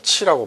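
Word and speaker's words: 徵: 그다음에네 번째 나오는 글자는 보통 우리가 부르다 할 때 징 요구하다 할 때 징으로 이렇게 있는데 음으로 발음할 때는 치라고 발음합니다 그래서 궁상 각 치유가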